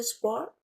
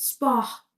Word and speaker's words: sport: Ils font du sport. Je ne prononce pas le T final, OK? C'est juste sport.